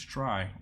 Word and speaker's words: trie: let's try implement try a try pronounces try or prefix tree is